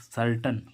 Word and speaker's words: certain: ऐसे ही इसमें देख लीजिए, CERTAIN, सर्टन। सर्टन मीन्स क्या होती है, क्या होता है, निश्चित। तो यहाँ पर ए आई का उच्चारण क्या हो रहा है, आ।